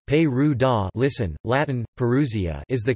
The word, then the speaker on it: Perugia: Perugia, Italian pronunciation, Perù-da, listen, Latin, Perusia, is the capital city of